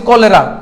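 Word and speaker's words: cholera: এই শব্দটা ঠিক আছে আবার হচ্ছে কলেরা তো এই যে সি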